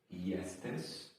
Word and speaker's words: jesteś: Then we have the word jesteś, but it's got an accent on the S. So that would be like a sh sound, if I'm not mistaken.